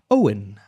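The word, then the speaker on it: Eoghan: And the pronunciation is Eiohan. Owen.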